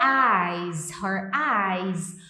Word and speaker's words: eyes: Eyes. Um sonzinho de Z no final.